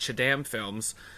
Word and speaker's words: chadanmfilms: That is pronounced Chadamfilms. I know it's spelled wrong, but that's just the way it is.